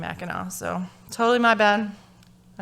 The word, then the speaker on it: Mackinac: so i was like okay well that one's mackinaw and one that one's mechanic so okay and no apparently it was wrong it was also supposed to be mackinaw so totally my bad